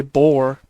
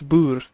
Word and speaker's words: Boer: In 1814 when the Netherlands was most people say bore it's not. That's Bur part of the French Empire under Napoleon.